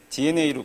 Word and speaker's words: DeNA: 말씀드린 dna인데 저희 우리 회사 이름을 대나라고 있는 분이 많으세요 dna라고 있고요 그 D 우리 dna의 이커머스가 심어져 있다 해가지고 스펠링을 저렇게 씁니다 그래서 dna로 꼭 읽어 주십시오 감사합니다 그 저희는 게임